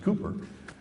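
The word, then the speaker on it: Cowper: uh uh it's spelled calper but it's actually pronounced cooper said he works in mysterious ways his wonders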